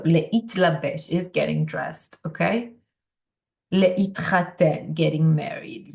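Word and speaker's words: להתחתן: Le'itchaten, getting married. So you hear the t there, le'itchaten.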